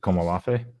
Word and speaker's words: Komolafe: And Komolafe. I have to say that's how you pronounce it, Komolafe.